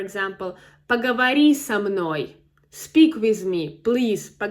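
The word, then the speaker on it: со мной: So, again, it's it's not s m n o y, but so m n o y. So, here is a cluster again of two consonants, m and n. So, it's difficult to pronounce s m n o y. Three consonants in a row. So, we need to insert some vowel.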